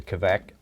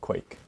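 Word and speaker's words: kveik: pronounce it is uh quake yeah okay because this is how the norwegians pronounce it and it's certainly from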